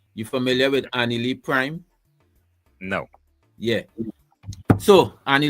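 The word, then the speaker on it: Annalie: Annie Lee Prime, she is, I don't know, maybe she's underground right now or something because of, but her name is spelled A-N-N A-L-I-E, Annie Lee.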